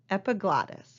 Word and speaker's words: epiglottis: the lungs is referred to as the epiglottis epiglottis is how you pronounce that okay let's let's take a look